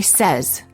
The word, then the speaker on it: says: many warning common mistake the verb say is pronounced with an s sound in the past tense and in the present tense when it is followed by an s for example i say but i said he says don't say i sayed